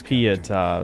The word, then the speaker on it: Pietà: Oh, it's Pietà, that's how you say it.